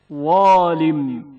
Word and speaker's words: ظالم: ظالم زا کی آواز پر تلفظ ہوتی ہے. ظالم ظالم اب زبان کی اس حالت کو زال والی حالت سے موازنہ کریں.